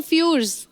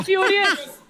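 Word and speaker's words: Furious: To fast to फ्यूर्स। वाह, फ्यूरियस। न फ्यूर्स। फ्यूरियस का स्पेलिंग है टू फास्ट टू फ्यूरियस।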